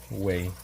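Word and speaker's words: güey: Well, I'll give you a pass because you didn't really know, but and way is actually spelled with a G. If you don't know, now you know. It's like G-U-E-Y. Way.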